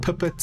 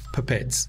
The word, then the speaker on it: pipette: call a pipette right it's pronounced differently in different spaces in the world some people call it pippets some people call pipettes whatever pipettes that's what i call it all right that